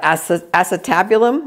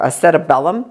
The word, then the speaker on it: acetabulum: And the head of the femur articulates or joins at the acetabulum or acetabellum, depending who's pronouncing it.